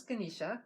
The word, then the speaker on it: Ganesha: This is Ganesha or Ganesh, depending on your own pronunciation.